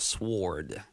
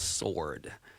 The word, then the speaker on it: sword: And we don't pronounce the W in sword. It's not sword. It's sword.